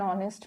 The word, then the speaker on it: honest: all the three cases the h is silent so the pronunciation is nr an honest man and air these